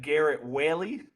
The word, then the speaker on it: Garrett Whaley: Shafer and today on the show we have Garrett Whaley is how you pronounce it I didn't check before we started